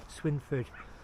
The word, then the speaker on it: Swineford: It's spelt Swineford, but I think it's pronounced Swinford.